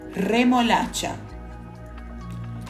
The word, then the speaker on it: remolacha: exemplo pela letra J por isso certo é remol vibrando r e não remol sem vibrar como no português já quando estiver no